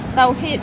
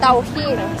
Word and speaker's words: Tawhid: Tawhid. Tawhid.